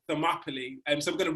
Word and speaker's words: Thermopylae: with the t-h-e and that is pronounced thermopylae rhyming with properly but yeah we can